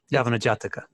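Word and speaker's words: Yavanajataka: like what has been talked about I can't pronounce the name is yavana yavana jataka yavana say it again please yavana jataka yavana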